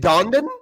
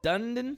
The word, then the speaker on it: Dundon: Is it Dondon? Dundon.